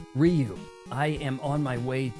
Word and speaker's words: Ryu: Ryu, be always brave. And did anybody else pronounce it Rayu? Even Wes Study in the Street Fighter movie?